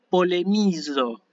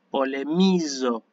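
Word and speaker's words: πολεμίζω: La siguiente palabra es un verbo, como me doy cuenta yo por la terminación en omega, y esto se lee polemizo, ¿sí? Es la z, polemizo, ¿eh?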